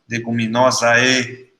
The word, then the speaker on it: Leguminosae: chama leguminosa no passado, Leguminosae se escreve, mas a gente pronuncia leguminosa. Esse grupo de plantas, elas